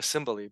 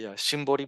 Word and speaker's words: Shimbori: or to be more, I don't know why I'm pronouncing it Symboli, but it's actually Shimbori, but anyway, it doesn't matter.